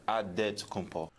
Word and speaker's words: Adetokunbo: The Nigerian way, you gotta say with a D. So it's Adetokunbo. Okay. Adetokunbo. Okay. Okay. You gotta say with a D. So it's Adetokunbo. Adetokunbo.